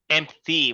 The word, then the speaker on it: empty: Empty. That T sound at the ends.